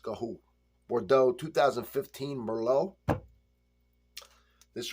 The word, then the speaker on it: Garraud: is marquee D um gaho gaho g a r r a u d pronounced gaho Bordeaux 2015 Mero this